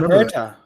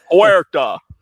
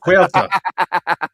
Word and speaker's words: Huerta: David Herta, right? David, you have the most redneck ass pronunciation of Spanish names. Huerta. David Huerta.